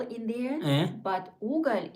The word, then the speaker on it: угол: Уголь.